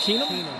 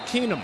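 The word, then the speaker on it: Keenum: Number one, uh Case I think I believe it's pronounced Kenum. Kenum. Yes, sir.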